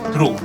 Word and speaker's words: through: This word THROUGH is not throw, it's through. Through.